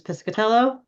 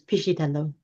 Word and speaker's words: Piscitello: So the Americanized version is Pescatello. Okay. The Italian version is Piscitello.